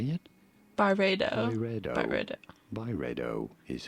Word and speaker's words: Byredo: let's let's listen to this say it Barbados by redo is how it is usually said Barbados okay